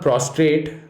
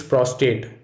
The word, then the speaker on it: prostate: mispronounced words fighting no it's not prostrate it's prostate though a pain in prostate may leave a man prostate the gland contains no r it is not prolly